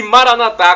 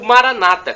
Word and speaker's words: Maranatá: E Maranatá, como dizemos nós católicos, com a tônica na última sílaba, ou Maranata, com a tônica na penúltima sílaba, como dizem nossos irmãos separados, os evangélicos ou protestantes.